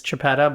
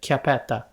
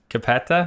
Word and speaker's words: Chiappetta: your last name well the English way to pronounce it is Chiappetta but I'm Italian so we pronounce it capita Cappetta yeah it sounds much